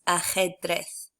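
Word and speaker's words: ajedrez: remember that for J the letter J in Spanish is always pronounced I suppose a little bit like an H in English it's from your throat sort of like so the word for chess is pronounced a head breath and the word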